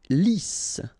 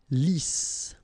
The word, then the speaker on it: lisse: Lisse. Double S here, so it's really a strong S. Lisse. Okay, don't insist on the final E.